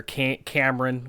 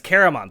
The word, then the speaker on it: Caramon: They've talked with Raisin Man, as well as his brother Cameron, which that I pronounced that totally wrong. Cameron. Yes, Caramon. Thank you. Caramon. That's how I remember it. Cinnamon bun.